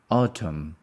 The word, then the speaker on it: autumn: autumn make you feel autumn autumn we don't pronounce the N is silence Autumn the stress is on the first one autumn when was the